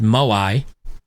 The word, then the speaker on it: moai: Here, this study that they have on the blue zones, which is, it's pronounced Moai, the tradition is why Okinawan people live longer.